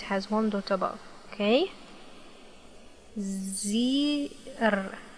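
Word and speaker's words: زر: It has kasra below, so we will pronounce it with e sound.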